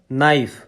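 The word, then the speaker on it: knife: উচ্চারণ হয় না উদাহরণ নাইফ কে এন আই এফ ই কে মৌন আওয়ার এইচ ও ইউ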